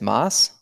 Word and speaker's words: Moss: should have asked like you pronounced your last name as moss nailed it wow look at that